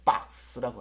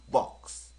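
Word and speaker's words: box: a 발음은 아라 했잖아요 그니까 미국식과 영국식이 약간 다릅니다 사실은요음 미국식 같은 경우는 이게 상자라는 뜻이잖아요 그래서 보통 박스라고 합니다 박스 박스 근데 연국 같은 경우는 벅스 벅스 벅스 좀 잘라져 가는 거 같아요 예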